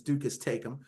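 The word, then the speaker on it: duces tecum: Nobody knows how that's actually said because it's Latin and Latin is dead as a spoken language, but most common pronunciation for in the legal profession is ducasum.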